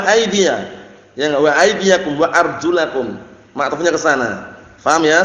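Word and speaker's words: أرجلكم: pembahasannya Naam wamsahuusikum waula jangan arjuli bacanya karena Syiah rfidah bacanya arjuli wa arjulakum ka'bain dan cucilah kaki-kaki kalian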